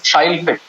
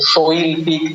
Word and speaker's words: Shailpik: In Bangla, we tend to open our mouth. We got that awe situation. We have the O. The Shailpik is a very rounded, take your time kind of way of pronouncing. Yeah. Shailpik just rolls out easier, and in English it just fits in easier.